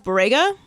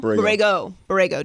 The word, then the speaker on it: Borrego: By the way, while we're mentioning it, James Borrega. James Borrega? That's how you say his name? You know how I say names. Borrego.